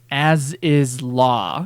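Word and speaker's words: Azys Lla: That tells you how to get to Aziz Law. Aziz Law. As is law is what it sounds like.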